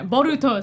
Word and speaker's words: Boruto: for n Nar Naruto B bolts movie sorry boruto say it right kid like two weeks ago